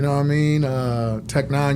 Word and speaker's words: Tech N9ne: Uh, Tech 9, you spell it T E C H N E. Number nine ne. It takes the place of the I.